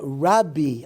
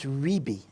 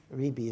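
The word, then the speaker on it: רבי: raban tan raban is actually T ran uh rabi AKA rabi really it's rebi rebi is the correct pronunciation but you know you're going to do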